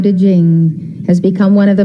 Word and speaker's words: Ching: attributed to laotzer known as the Dao de Jing has become one of the most sacred works